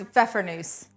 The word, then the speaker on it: Pfeffernüsse: How do you pronounce these? Pfeffernusse.